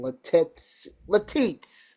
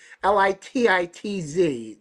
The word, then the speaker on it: Lititz: But they'll stay a little bit later in Pennsylvania, like in Latitz. I have no idea how you pronounce that. Lititz.